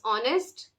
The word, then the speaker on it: honest: It is like we have in English honest, just the way we pronounce honest, wherein the pronunciation of H is silent.